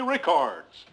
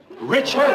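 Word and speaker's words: Richards: to our own Mary Ricards. Richard. Her name is Richard.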